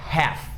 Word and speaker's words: half: A palavra número 6 é a palavra half. Half significa metade, meio, half. Muita gente fala half, half, mas não é half, nem health, é half, half. A mesma pronúncia de calf, é a mesma lógica, half e calf.